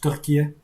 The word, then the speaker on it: Türkiye: So here and there you pick up something, and I know it's pronounced Türkiye. Türkiye, maybe even. I don't know exactly, but kind of like that.